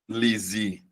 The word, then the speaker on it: análise: O primeiro caso, analise, é verbo, Luana. Mas aí você vai perceber, analise, a sílaba tônica é a anterior, beleza? É a penúltima sílaba. Já no caso do substantivo, você muda a tonicidade, você muda a posição da sílaba tônica, Luana, e transforma em substantivo.